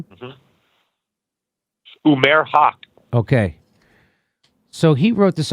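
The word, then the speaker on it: Umair Haque: Umair Haq.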